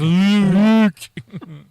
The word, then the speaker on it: Luuk: That way it would still be pronounced the same way, but of course that's not how the fandom took it. It doesn't have it read. It's Luuk. So fans read it as Luke.